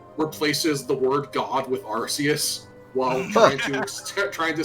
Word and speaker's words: Arceus: the uh early presentations for pla um they pronounced it Arceus which is stupid they also pronounce aqueous in